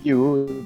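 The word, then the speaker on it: Yu: Okay, so her name's actually U. That's spelled like Y and U.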